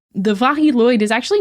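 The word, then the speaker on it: Mari Lwyd: I bet yes so the viloid which I've heard a lot of pronunciations while researching this episode this seems like it is the Welsh pronunciation I saw the most so that's what I'm going with the vah lyd is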